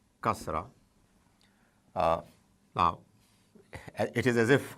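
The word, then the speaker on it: كسرة: I, the equivalent of it in Arabic is kasra, kasra. Now, it is as if I already think that you already know it, the use of zabar. So I put a vowel above ka, and it is kasra.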